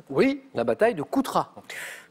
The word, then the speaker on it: Coutras: Oui, la bataille de Coutras, avec un S à la fin qui ne se prononce pas.